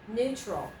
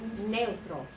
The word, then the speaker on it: neutral: Neutral. Okay, let's try it. Neutral. Not neutral, but neutral. Two syllables, that's it.